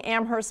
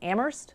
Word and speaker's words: Amherst: 15th that's an amber I'm saying Amherst Massachusetts but I was corrected and it's Amherst I guess they don't pronounce the h's in in Massachusetts speaking at swim sea